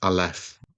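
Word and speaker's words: א: We should pronounce that as alf.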